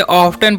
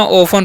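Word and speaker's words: often: गलती कर सकते हैं इसे ऑफ्टन पढ लेंगे तो ऑफ्टन नहीं पढ़ना है इसे क्या पढ़ना है ऑन पढ़ना है क्या पढ़ना है जी ओन ठीक है यहां पर टी जो है ना साइलेंट होता है ओके तो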